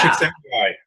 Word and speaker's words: Csikszentmihalyi: Csikszentmihalyi. Oh, no. That guy's, man. Is he Czech or something? But yeah. Csikszentmihalyi. So that's only because I learned it's a chick and she sent me high.